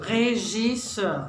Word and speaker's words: Regisseur: Regisseur. Regisseur. Je, the French je. You have to go with the French.